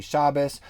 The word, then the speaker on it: Shabbat: so instead of saying shabbat you'd say shabbos instead of saying um you know sukkot you would say sukkas but that that's a very small minority pronunciation and that's different than